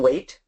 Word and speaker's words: weight: regardless of the pronunciation height and weight are pronounced differently but they're spelled the same because they mean similar things even though they're pronounced differently words he she they